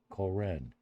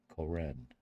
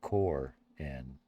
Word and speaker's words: Koren: Koren. That's how you hyphenated. Koren. Koren. Koren. It's not core N. You hyphenated it between the O and the R.